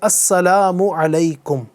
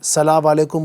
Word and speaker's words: السلام علیکم: میرے ساتھ ساتھ دہرائیے۔ سلام کا درست تلفظ ہے السلام علیکم، السلام علیکم، ٹھیک ہے۔ السلام علیکم کچھ لوگ پڑھتے ہیں، سلام علیکم بولتے ہیں، سلام علیکم بولتے ہیں، تو یہ سب غلط ہیں۔ السلام علیکم، السلام علیکم،